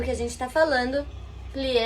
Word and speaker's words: plié: É muito importante vocês saberem que quando em francês a gente coloca um acento agudo, que é esse aqui, assim, na verdade, ele tem som de E, não de E, como aqui. Então, se a gente lesse em português, seria plié. Mas em francês é plié, com esse biquinho, plié.